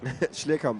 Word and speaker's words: Schlierkamp: Schlierkamp is correct, yeah.